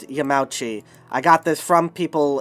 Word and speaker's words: Yamauchi: yamauchi but uh the there's a kind of compression of vowels that that happen when you do uh